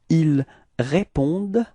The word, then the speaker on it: ils répondent: Ils répondent, repeat, ils répondent, okay, so it's actually a common mistake that usually students tend to pronounce this E-N-T, so they want to pronounce it like en, okay, but then keep in mind that for verbs we don't pronounce them, so E-N-T is actually not pronounced, it's only répondent.